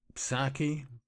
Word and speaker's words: Psaki: So I find myself at Memology 101, and also another one of Memologies was Saki. I think the P silent.